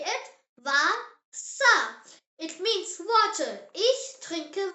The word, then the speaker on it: Wasser: German W sounds like English V. Yes, V and W are completely switched around. Just remember that and you will be absolutely fine. The example word is Wasser. Say it. Wasser.